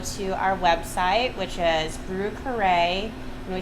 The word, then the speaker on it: Brieux Carre: you could go to our website which is brew carray and we spell it in the new orleans fashion b-r-i-e-u-x c-a-r-r-e